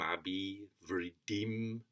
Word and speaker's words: abhivṛddhiṁ: So if I try in Sanskrit, emphasizing the meter, nayaṁ, śrutvā, śakto, ayam, abhivṛddhiṁ, labhate. So it's abhi, 2 short syllables, vriddhiṁ, 2 long syllables.